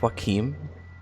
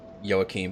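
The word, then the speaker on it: Joachim: also yeah I know the right way to say his name is Joaquin but it's really hard for me not to say joaquim for now anyway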